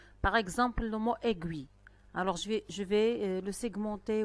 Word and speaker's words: aiguille: Dans la première syllabe, la lettre I fait le son E. Donc, je vais écrire ce mot dans la troisième ligne. Et je vois la lettre I à la fin ou bien dans la deuxième syllabe. Gui. La lettre I fait le son I.